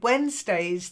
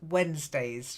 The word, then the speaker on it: Wednesdays: that's it and then Wednesdays the D is silent and so is the E it's like Wen almost Wednesdays try it wday yeah